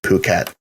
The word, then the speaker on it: Phuket: You said fuck it, and he said it's pronounced Phuket.